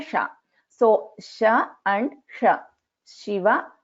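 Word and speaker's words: शिव: So in Shiva, it is Sha. This is a Talavya Sha. In Shanmukha, this is Sha. So this is Murdhanya Sha. So Sha and Sha. Shiva, Shanmukha.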